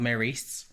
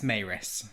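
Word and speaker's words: Maryse: out that the Lightwood mum is not called Maurice it's a Murray sound that's pronounced Estelle but anyway it's Mayoress because they spelt it phonetically for me so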